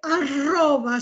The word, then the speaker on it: arroba: Escucha, Rosana, en español se dice arroba, se pronuncia bien.